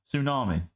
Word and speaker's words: tsunami: it right didn't I tsunami there's no T you don't say the T there you go people